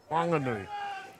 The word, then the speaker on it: Whanganui: started this broadcast, Doug, the city of Whanganui is spelt with a WH, so normally that would be pronounced Whanganui. However, the local Māori people of Whanganui and the Whanganui River, Awa, their dialect does not pronounce H's in the Māori language. And so every word with an H, Māori word with an H, they pronounce it. So it's Whanganui.